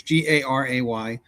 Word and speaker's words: Garay: Garay just forgive me on the pronunciation, guys. So it's Garay, specialized in treating children with congenital heart disease, and she was beloved for her compassion and dedication.